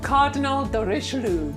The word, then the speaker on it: Cardinal de Richelieu: Cardinal de Richelieu. You see, she rolls her R.